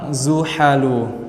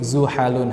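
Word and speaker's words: زحل: Kemudian juga apabila kita temukan nama orang Zuhalu, kita temukan nama orang Zuhalu, yaitu tidak boleh kita baca dengan tanwin Zuhalun, harus apa ya ikhwah? Zuhalu. Nah, namun Zuhal ini digunakan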